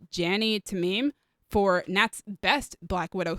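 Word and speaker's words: Jany Temime: Thank you to, I believe her name is pronounced Jani Tamim, for Nat's best Black Widow suits, and apparently the most comfortable one as well.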